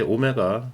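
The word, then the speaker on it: ω: s는 뭐냐 그 다음에요 W 이게 오메가 오메가라고 읽습니다 이게 제가 w가 약간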